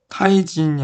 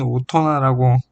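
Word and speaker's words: 大人: 예를 들면 타이진이 아닌 오토나라고 읽는 것도 있고 A라고 쓰고 B라고 읽는다의 사례처럼 문학적 용법이 그대로 도금으로 정착된 사례도 있다.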